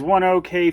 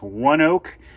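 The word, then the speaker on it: ONEOK: looks like it says one okay field i have read it's supposed to be pronounced one oak but that's not how you spell that but anyways that's in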